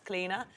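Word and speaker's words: Clíodhna: It's Cleena. People go, "What? Your middle name's Cleena?" Yes, it's an ancient Celtic name.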